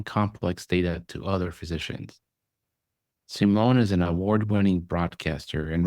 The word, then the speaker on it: Simeon: So people say Simeon or Simeon. It's actually Simeon, but everybody calls me Sim.